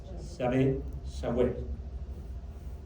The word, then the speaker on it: Yahweh: Para poder pronunciar YHWH hubo que agregarle vocales. Y entonces YHWH ahora se dice Yahweh.